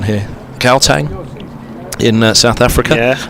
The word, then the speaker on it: Gauteng: Gauteng in South Africa. Yeah. I think you're not supposed to pronounce the G's. Right. Gauteng.